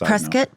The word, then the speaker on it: Prescott: Just Prescuit. Prescott. They say Prescuit, but it's spelled Prescott, right? But they say Prescuit. Prescuit like it's a biscuit.